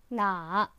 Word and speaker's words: 哪: It is pronounced with the third tone 哪 and is a word used to specify a question about who, what, and where.